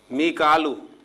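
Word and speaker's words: ميكال: मीकालू, जिसे हम मिकाइल कहते हैं, तो कुरान मजीद में इसे मिकालू प्रोनाउंसिएशन के साथ जो है लिखा गया और अदा किया गया।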